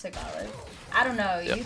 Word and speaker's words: Tagalog: It's Tagalog. Oh, it's pronounced Tagalog.